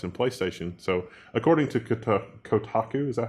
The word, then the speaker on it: Kotaku: So, according to Kotaku, is that how you pronounce that? Kotaku, yeah.